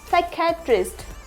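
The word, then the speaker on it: psychiatrist: ज्यादा आते हैं साइकोलॉजी क्या होता है psychology साइकेट्रिस्ट साइकेट्रिस्ट next psychotherapy psychotherapy यहां पे पी साइलेंट होता है इसलिए एस का साउंड से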